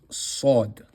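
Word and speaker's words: ص: Moving on to the next letter we have sod. Sod again is a fullmouth letter. Sod should be pronounced here.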